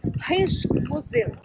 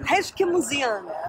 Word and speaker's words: Rijksmuseum: E agora a gente está aqui, ó, nesse museu que é o mais difícil de se pronunciar em Amsterdã. Rijksmuseum. Rijksmuseum. Finge que tá espirrando e tá tudo certo. Rijksmuseum.